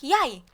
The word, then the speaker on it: jeg: is j e g so if you pronounce it like jeg jack you know venna so how it's coming possible so how is it impossible that it's like yay yeah which is the spelling